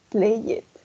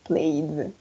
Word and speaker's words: played: Entonces no decimos play it. Pronunciamos como una D, played.